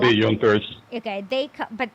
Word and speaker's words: Junkers: or I don't know maybe but they called yunkers okay they but it's pronounced spelled junkers and they just collected rent